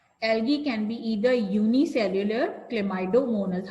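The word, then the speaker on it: Chlamydomonas: can be either unicellular cido monus how do we pronounce it clid c h l a clay clay my m y my d oido m o n a s cido monus okay cyonus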